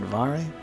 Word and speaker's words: Varré: He said Varré because it's also got the accent on the end.